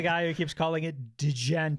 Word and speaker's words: Djent: I'm also the guy who keeps calling it Djent. Djent. Yeah, the hard D for no reason, I feel like.